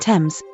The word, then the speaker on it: Thames: Note that English also has a few words that begin with th where the h is silent, like Thomas and Thames. Those you just have to learn by rote.